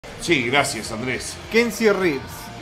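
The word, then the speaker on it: Reeves: Sí gracias Andrés keny ribs cómo keny ribs o reves es keny y se escribe reves con r e e b corta es s sape Esta es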